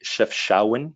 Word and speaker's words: Chefchaouen: Another one of my probably my favorite city in all of Morocco is going to be Chefchaouen, is how you pronounce it.